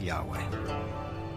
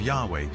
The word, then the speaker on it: Yahweh: So his title, in a sense, was God, and his name was these four letters, which in English would be YHWH, which we think were probably pronounced something like Yahweh.